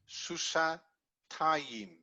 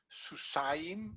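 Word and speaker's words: סוסתיים: If it was 2 horses, 2 mares, susatayim. Ayim, yeah. So not susayim, but susatayim.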